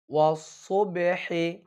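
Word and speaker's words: والصبح: এরপরে ওয়াসসুবহি, এখানে খেয়াল করুন সদ হরফটি হচ্ছে মোটা হরফ, এই জন্য সকলেই মোটা করবেন।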